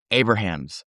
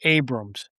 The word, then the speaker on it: Abrahams: Today we are joined by Abrahams. Welcome. Thank you. The last pronounced Abrams. Oh, I'm sorry. That's okay. It's spelled like Abrahams, but it is pronounced Abrams.